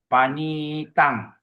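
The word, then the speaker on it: paṇītaṃ: You go to the two for fifth line fifth line last word a long eye there. So you pronounce panitang okey.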